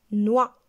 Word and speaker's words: noix: exemple le mot noah une noix x ici ne se prononcent pas une chaude aucun sens